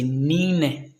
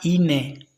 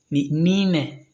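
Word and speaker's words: nne: 3 c'est tatou 4 c'est nine ce n'est pas inilé nine n n e nine c'est en prononçant parfois qu'on prononce mal mais c'est nine a ville tano c'est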